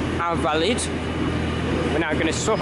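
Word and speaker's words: Invalides: Here we are at Invalid, or actually pronounced Invalid.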